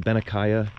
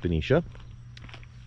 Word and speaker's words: Benicia: No, it's not Benicia, it's pronounced Benicia.